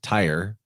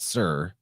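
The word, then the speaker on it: Tyre: I know that it looks like it says tire but you actually pronounce that sir and knowing that is very helpful because you'll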